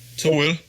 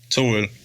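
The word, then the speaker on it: To Øl: Which I got to represent the Tuol. How do you say it? It's Tuol? Tuol. Yeah. Tool.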